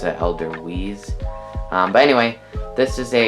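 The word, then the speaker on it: Edelweiss: or that's switzerland sorry they pronounce their w's as a v so it's like elder v's but we pronounce it elder wheeze but anyway this is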